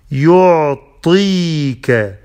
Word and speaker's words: يعطيك: يعطيك، طاء is heavy، نط يعطيك، it's not تاء، it's طاء is heavy.